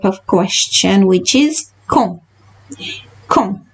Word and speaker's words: quand: Quand. D is silent, N is nasal, so we are not pronouncing it fully. So we are saying quand.